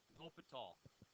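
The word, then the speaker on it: L'Hôpital's: that applies to limit okay ah this is pronounced loaf at all okay you say it low feet tall everybody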